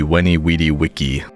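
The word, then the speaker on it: Veni, vidi, vici: Like we say Cicero and Veni Vidi Vici. There's a theory out there that it's actually different pronunciation. Like it would actually be Cicero. And V's would be W, so it'd be Weni Weedy Wiki.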